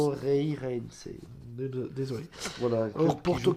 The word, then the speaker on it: Moreirense: Porto qui reçoit Morense. Désolé de le prononcer. Moreirense.